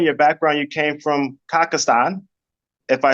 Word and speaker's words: Kazakhstan: Because I know in your background you came from Kazakhstan, if I said it right. Yeah, Kazakhstan.